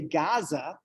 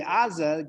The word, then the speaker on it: Gaza: a gut and that when Americans say Gaza and Hebrew say Aza Gaza is actually probably the more you know closer to what the the pronunciation was 2500 years ago this is not interested